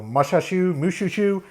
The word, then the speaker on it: Mushhushshu: It's spelled like the word mush, then the word hush, then shu, S-H-U, all squished together as one word. So Mushhushshu, I'm not really sure.